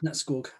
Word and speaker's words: Nattskog: And also he's got a YouTube channel called Nattskog. Is that how you say it? Yeah. Nattskog.